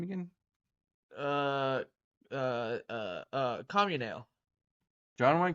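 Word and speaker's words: Comunale: How do you pronounce his last name again? Uh. Communale. John Wayne Communale.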